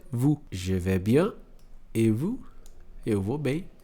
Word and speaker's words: et vous: Et vous. Então aqui ele vai ter som de E. E tudo isso aqui vai ser simplesmente um vous.